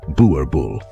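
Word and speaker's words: Boerboel: also offered invaluable companionship the bbul pronounced bubul gets its name from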